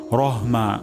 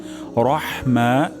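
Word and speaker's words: الرحيم: এটা গুরুত্বপূর্ণ উচ্চারণ রাহিম লাস্টে হিম হয়ে যেতে পারে এখানে হবে হা হবে হিম হবে না তাহলে আমি পরিপূর্ণ আবার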